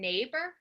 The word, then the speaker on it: neighbor: light light I good you hear I in neighbor neighbor it's like a yeah a guess what that IG is there it's a marker it's not there for pronunciation neighbor Meg underneath neighbor